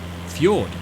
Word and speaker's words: fjord: of the vaishla ford fjord possibly i might be pronouncing the j as a as a j instead of a y are fjord stunning city